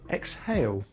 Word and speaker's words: exhale: And we don't always say the H after EX: exhilarating, exhausting, exhibition, but we do say it in exhale.